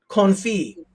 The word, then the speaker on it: confit: Confit.